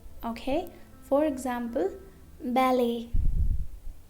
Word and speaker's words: ballet: Now letter T is also silent in some of the French words ending in et. Okay? For example, ballet, ballet, buffet, buffet, gourmet, gourmet.